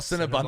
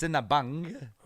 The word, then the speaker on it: Sinabung: the Nicklin Cinnabon syllable not Cinnabon Cinnabons Oh since Sinabung longer like cowabunga calcium and ganya volcano in Indonesia because Cinnabons yeah it's